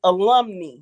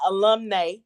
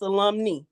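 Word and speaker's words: alumnae: And if it's a group of females, it's alumni, not alumni. It's alumni. It rhymes with Gumtree.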